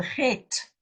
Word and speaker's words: Het: Now, we Afrikaners are very lucky. We can say the because we've learned to say get or het. We can say this is a het. But the English people, they all say something else because they have a difficulty in saying het.